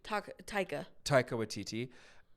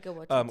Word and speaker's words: Taika Waititi: Rita Ora and I never had to say to How do you spell it? Waititi. Taika Waititi, right? That's how you say his name? Taika Waititi.